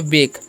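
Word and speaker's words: bake: हम लोग पढ़ते हैं वेक क्या पढ़ते हैं वेक पढ़ते हैं बाक नहीं पढ़िए ठीक है ए का उचार यहां पर ए होगा क्योंकि वल्स कंसोनेंट वल्स वाला रूल लागू होगा ठीक है वेक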